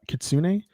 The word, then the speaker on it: kitsune: wind could soon uh kitsune they pronounce the e so i'm just trying